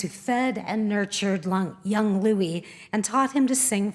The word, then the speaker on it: Louis: Louis Armstrong referred to himself as Louis, but growing up near the French Quarter in New Orleans, most people used the French pronunciation of Louis, and it stuck.